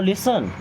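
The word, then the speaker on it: listen: नाउ लिसन। आपको बोलते हैं नाउ, सुनने को बोलते हैं लिसन। लिसन की स्पेलिंग यहाँ पे टी साइलेंट ध्यान दीजिएगा, टी साइलेंट।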